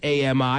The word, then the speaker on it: Ami: I knew a woman who spelled her name A-M-I, and she pronounced it Ami.